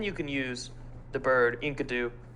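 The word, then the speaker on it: Enkidu: can use the bird inkadu inkidu anyway there's no way that that's actually I'm pretty sure you've said it right the first time it's it's in kidu uh it's from the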